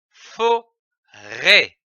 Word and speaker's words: forêt: Le chapeau au-dessus du E indique qu'il faut accentuer ou allonger le E. L'association de ces syllabes donne forêt, comme une forêt.